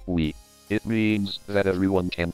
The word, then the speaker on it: Wii: to other wii consoles the console's name pronounced as we it means that everyone